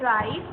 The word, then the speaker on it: write: WRITE इसको बोलते हैं राइट. इसमें भी W साइलेंट है, W हम नहीं बोलते.